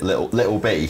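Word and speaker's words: Lil B: You pronounce it Little B.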